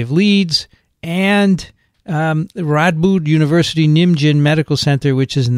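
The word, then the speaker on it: Nijmegen: is in the netherlands that's nigh megan megan yeah what did i say nidge megan you said something like ninja boy yes you did i think we're mispronouncing some of the words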